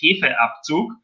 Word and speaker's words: Hefeabzug: Also that the word is Hefeabzug, and it's Hefe and Abzug. So 2 words.